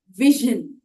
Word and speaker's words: vision: पर हाँ, ये ज झ के बीच का है, तो आप बोले इसे विजन। ज ज इस साउंड को प्रोड्यूस करना है, और वही है वो अक्षर जो आपको विजन में एस का साउंड प्रोड्यूस करता है।